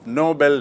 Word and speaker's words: Nobel: तो आपको स्पष्ट याद रखना चाहिए कि नोबल मतलब नेक, नोबल मतलब उच्च श्रेणी का, और नोबेल एक व्यक्ति का नाम जिसके नाम से पुरस्कार है.